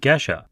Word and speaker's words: Gesha: For today's episode of CoffeeSmarter, I asked Chris about geisha coffee. He very politely corrects me on the pronunciation, calling it Gisha.